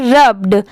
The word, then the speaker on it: rubbed: ठीक है, ये है रब्ड, RUBBED, इसको पढ़ते हैं रब्ड। यहाँ पर RUB रब हो गया, और BED बैड नहीं, यहाँ पर इसकी प्रोनाउंसिएशन है बर्ड। ठीक है, बर्ड। पूरा क्या हो जाएगा, रब्ड।